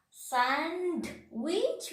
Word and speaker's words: sandwich: Sandwich. We are telling sandwich. No, sandwich.